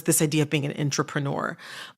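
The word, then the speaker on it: intrapreneur: themselves as entrepreneurs even if they technically aren't entrepreneurs.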